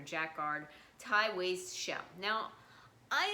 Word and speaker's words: jacquard: jacquard and i guess that's you pronounce it jackard or jack guard thai waist shell now